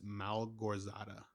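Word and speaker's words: Małgorzata: It's Malgorzata, Malgorzata.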